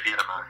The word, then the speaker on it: Beira-Mar: Is it pronounced Beira-Mar? Yeah, Beira-Mar.